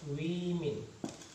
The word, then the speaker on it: women: Jadi ini pengucapannya berbeda ya, ini dibaca i ya, women.